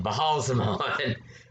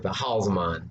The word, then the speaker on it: Baalzamon: So, this is Baalzamon. That's how you say it. Baalzamon. That's how you pronounce it, for sure. Baalzamon.